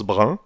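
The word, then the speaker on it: bren: du brun à l'origine le mot brin s'écrit b r e n est ce prononce brun comme dans le mot moyens ou examen lebresne est un mot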